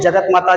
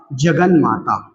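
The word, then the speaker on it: जगन्माता: जगत प्लस माता, और आप कहते हैं जगत माता, जगत माता। वर्तनी में भी आप गलत ही उच्चारण करते हैं, लेकिन ता का योग मां से होगा तो ता अपने पंचमाक्षर अर्थात ना में परिवर्तित होगा और शब्द क्या बन जाएगा? शब्द बन जाएगा जगन माता।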